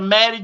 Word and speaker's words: Mattie: Go on my page on the Maddie J, MATTIE, the second T is silent, MATTIEJ.